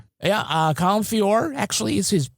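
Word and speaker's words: Feore: Oh yeah, Colin Fiori. Yeah. Shakespearean trained actor. Yeah. Uh Colin Fior actually is his how he pronounces it.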